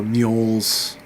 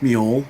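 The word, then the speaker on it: Mjoll: s which was uh mol's uh I believe that's how you pronounce her name m j o l l that's mu right to find her long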